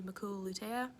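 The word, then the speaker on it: macula lutea: then the red part around it is the makula lutea people like to say hakuna matata to remember that but it's it's a good way to remember it but just remember the pronunciation is maku lutea and then our optic disc in the back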